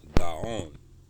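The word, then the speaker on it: גאון: It says that in Hebrew, the word genius is pronounced gaon, while in modern Hebrew, it primarily means genius.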